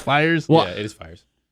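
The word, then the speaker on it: Fiers: What were Michael Fears' stats last year? I feel like I'm saying the name wrong. I think it's Fires. It's Fires. I've been saying Fears for like the last 4 times, so apologize.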